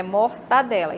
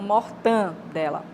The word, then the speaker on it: mortadela: alisa o ar né não tem nasalização é mortadela e não more than dela E aí nós temos